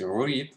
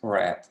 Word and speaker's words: read: like the word read like read in the present is just pronounced as read here is the transcript uh the um of this word um and in the past it's red so they are written